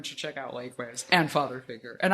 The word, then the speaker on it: Father Figuer: check out lakeways and father figure and i'm saying father figure right right it's yeah just straight old father figure okay because we